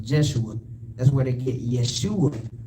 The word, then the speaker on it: Jeshua: name is called jesus but when you read ezra the second chapter is pronounced jeshua that's where they get